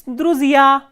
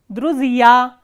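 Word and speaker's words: друзья: It is druzia, druzia. So, here stress is on the ending ya.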